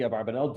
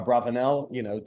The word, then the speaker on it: Abarbanel: He's known as the Abarbanel, Don Yitzchak, Don Isaac Abarbanel, or Abravanel, different pronunciations, who had just, again,